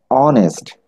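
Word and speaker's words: honest: আচ্ছা, অনেস্ট, এখানে এইচ এর উচ্চারণটি অ হয়েছে, দ্যাট মিন্স ও একটি ভাওয়েল সাউন্ড, এই জন্য আমরা এখানে এন ব্যবহার করব।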